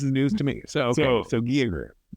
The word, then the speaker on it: Giger: Giger inspired creatures. Ooh, Great. Ooh, is that the common pronunciation nowadays? It's Giger, not Geiger. Geiger is a Geiger counter. Giger is his name.